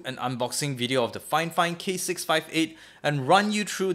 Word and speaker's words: Fifine: actually meant to be fine fine instead of fine it's almost like how you should pronounce porsche instead of posh so yeah keep that